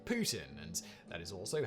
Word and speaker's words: poutine: While most people of the English world pronounce poutine, that's not how you pronounce it in French. In French, it's pronounced closer to Putin, and that is also how you pronounce Vladimir Putin's name in French.